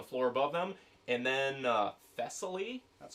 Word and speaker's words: Thessaly: And then Thessaly.